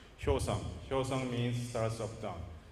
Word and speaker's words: Hyosung: Actually, Hyosung is very difficult to pronounce. I know, because it's a Korean word. So sometimes, Hyosung, Hyosung, something like that. But actually, we have to pronounce it Hyosung.